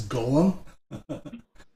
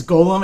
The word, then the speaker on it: golem: what you say it's golem and gollum right gollum is lord of the rings and golem is a hypothetical they're technically pronounced the same way oh really yep oh